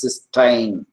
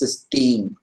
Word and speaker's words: cystine: So this amino acid with the free thiol group is pronounced cysteine, and this disulfide form is pronounced as cysteine. Okay, Ti, cysteine, and this is cysteine.